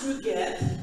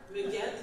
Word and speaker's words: Ruget: So my name is Ruget. If you have trouble remembering it or pronouncing it, just remember Ruget like baguette.